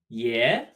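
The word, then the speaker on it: 爷: Yeah. Grandpa. Pronounced like also, but with a rising tone.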